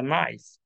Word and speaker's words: knife: And if you read, you are same who reading K in the knife and saying knife, knife.